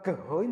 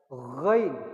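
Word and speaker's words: غين: Bukan gehoin bacanya. Ghain.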